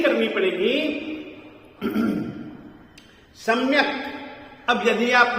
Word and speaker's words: सम्यक: उच्चारण इसका जरूर होगा, आप इसको साइलेंट नहीं कर सकते हैं, क्योंकि संस्कृत प्राकृत